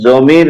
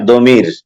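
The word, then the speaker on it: ضمير: জি উচ্চারণটা কি জমির না দমির যেটা প্রনাউন আর কি সর্বনাম বাঙালিরা আমরা যারা আছি জমির উচ্চারণ করি মানে আর এরাবিয়ান যারা আছে তারা দ উচ্চারণ করেন এরকম আমরা জমিরই বলি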